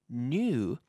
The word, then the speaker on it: knew: So the pronunciation is new, just like nuevo, new, new. Some people say new, and some people say new, new, almost as if it's N-U, new.